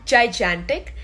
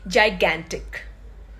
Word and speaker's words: gigantic: girl the first one it's not clingy the pronunciation is clingy then is this one it's not gigantic the right way to read this word is gigantic